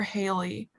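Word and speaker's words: Halley: hallie okay i need it's spelled h-a-l-l-e-y is that hallie or haley i think it's haley i think it was pronounced haley but i can't remember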